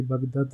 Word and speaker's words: Baghdad: Comunque Baghdad si scrive con l'H tra la G e la D. Per la pronuncia di Baghdad è un po' una schifo. Non è... Vabbè, perché noi non l'H non la mettiamo tipo fuoco come l'arabo.